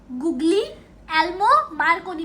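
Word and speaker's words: Guglielmo Marconi: क्या है फ्रेंड्स इसकी प्रोनाउंसिएशन, गुग्लियोलोमो मार्कोनी, गुग्लियोलोमो मार्कोनी।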